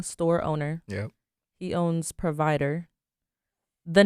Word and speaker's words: PRVDR: So the name PRVIDR, I took out the vowels out of it. So I called it PRVIDR.